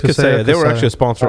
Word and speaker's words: Kaseya: Yeah, it's Kaseya.